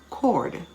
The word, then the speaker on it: chord: with aches and pains aren't we a-c-h-e h is silent chord c-h-o-r-d echo e-c-h-o choir c-h-o-i-r c-h-l-o-r-i-n-e can you